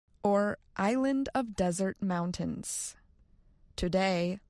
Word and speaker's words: Desert: He named the island, in French, Île des Monts Déserts, or Island of Desert Mountains. Today, locals still say the word desert, similar to its French pronunciation, désert.